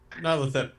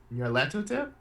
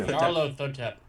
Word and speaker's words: Nyarlathotep: world as the ancient being, and help me pronounce this because I can't. Nylathotep. Thank you. Nylathotep. LC? Nyarlathotep? Thank you. Nyarlathotep.